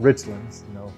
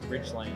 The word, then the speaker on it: Richlands: It's not Richlands, Richlands. Only northerners people out there would call it Richlands. Richlands. Richlands, that's not Richlands. Right. Just like Cleveland and Oakland. No, just the opposite of that. Richlands. Say it right.